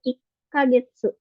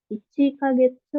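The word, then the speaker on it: 一か月: Ini juga sama, yang bulan itu ikagetsu. Sama kayak yang ini ya, pakai double gitu, ada tsu kecilnya. Ikagetsu. Jadi bukan ichi kagetsu, tapi ikagetsu gitu.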